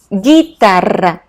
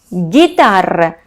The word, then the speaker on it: guitarra: Next, guitarra, guitarra. So what happened? I have an U between G and I. That's why the pronunciation changed to strong or hard G sound. Guitarra. And U becomes silent, remember.